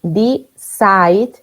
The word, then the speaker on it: decide: Decide, Decides.